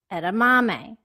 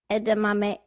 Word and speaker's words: edamame: example in American English we say the name of those little green bean snacks that we get at Japanese restaurant France as edamame by de-stressing the second syllable and stressing the third syllable in Japanese however a language where syllables carry equals stress they would say it's something more like edamame so the same exact